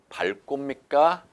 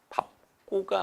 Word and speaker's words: 밟고: 그럼 이 밟고 밟고입니까? 밥고입니까? 대답. 정답은 밥고입니다. 알겠죠? 밥 다음에 뒤에 뭐가 왔을 때 자음이 왔을 때는요. 앞뒤 뒤에 있는 친구로 발음을 하라고 분명히 말씀드렸습니다. 발음은 밥고가 맞습니다.